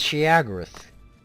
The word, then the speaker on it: Sheogorath: glorious victory for gorath's glory it's chiagarath can you please stop using the correct pronunciation please victory is ours